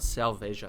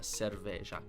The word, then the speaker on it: cerveja: Okay, that was like a r on the r. So, not selveja, cerveja.